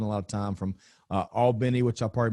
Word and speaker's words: Albany: But and if you ever spend any time in South Georgia, I've spent a lot of time from Albany, which I probably mispronounced, to Valdosta, pretty close.